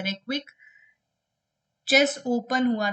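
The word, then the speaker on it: Reykjavík: अच्छा, इसके बाद एक रेविक चेस ओपन हुआ था, इसके नाम में कुछ वर्ड्स जैसे कि जे साइलेंट है, रेक्विक चेस ओपन हुआ था।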